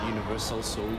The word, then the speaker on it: UniverSoul: So, as long as you've been in UniverSoul Circus, UniverSoul, you said it right the first time.